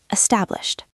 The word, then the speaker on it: established: Established. Established. It's almost like you are spitting the end out. Established.